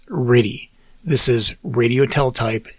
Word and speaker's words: RTTY: the computer was something called rtty or pronounced ready this is radio tell